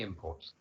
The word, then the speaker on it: imports: used as a noun this word is stressed on the first syllable because in that way it's acting as a noun in the first case